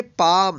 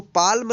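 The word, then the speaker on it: palm: मतलब पहले यह रहे तो L का उच्चारण नहीं करना है यानी यह जो यह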